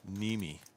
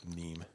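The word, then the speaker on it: Niemi: Brad Hedberg, it's pronounced Nemi, but if I was to see my last name without knowing it, I would probably pronounce it Neem.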